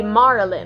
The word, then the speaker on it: Marlin: And I didn't want it to be Marilyn, I want it to be Marlin. That's why it is spelled differently, because I like how Marlin sounds over Marilyn, and Marilyn is overused, so her name is Marlin.